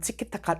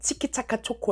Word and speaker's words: 치키차카초코: Today, I'm going to do chikitaka(?) I need to correct my pronunciation. Today, at Chikichaka Choco...